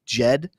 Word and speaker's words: Djed: right there there like you just heavily start the J off sound with the D so it's Jed and I know that